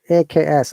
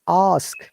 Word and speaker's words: ask: word is sometimes confusing i have heard that people are using it wrongly it is ask ask but people are saying aks args okay be careful it's awesome ask and how do you